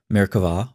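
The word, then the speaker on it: Merkavah: maricava mysticism frequently spilled with a bee but pronounced with a V merkava or Throne mysticism refers to Mystical ascents theoretically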